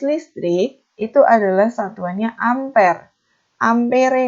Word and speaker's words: ampere: Ampere nulisnya, tapi bacanya ampere.